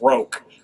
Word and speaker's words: Crochet: That one's weird because you have to change the pronunciation, because obviously when in his last name it's Roke.